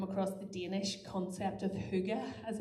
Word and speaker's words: hygge: And I really love, if you've ever come across the Danish concept of hygge, as it's pronounced, and it's really an opportunity to get